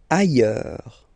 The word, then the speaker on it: ailleurs: Ailleurs. Look, final S not pronounced, and then you've got this y sound.